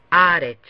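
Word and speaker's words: הָאָרֶץ: Aquí el acento se pone donde está el metek. Por lo tanto se pronuncia de la siguiente manera: haaretz.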